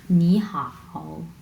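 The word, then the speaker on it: 你好: হাও নি হাও ওকে এখানে নি শব্দটাতে তিন নাম্বার টোন এবং হাও এই শব্দটাতেও তিন নাম্বার টোন সো দুইটা শব্দ যখন পাশাপাশি তিন নাম্বার টোন বসবে তখন প্রথম ওয়ার্ডটা হয়ে যাবে দুই নাম্বার টোন এটা শুধুমাত্র প্রোনাউন্সিয়েশন এর ক্ষেত্রে প্রোনাউন্সিয়েশনে আমরা দুই প্রথম ওয়ার্ডটাকে আমরা দুই নাম্বার টোন প্রোনাউন্স করবো এবং দ্বিতীয় ওয়ার্ডটা কোন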